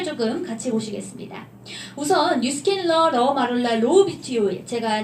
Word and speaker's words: RAU: 뉴스킨 러 마룰라 로우 뷰티 오일이 되겠습니다. 이름이 굉장히 길죠. 자, 앞서 제가 RAU 뭐라고 읽는다고 말씀드렸죠? 러.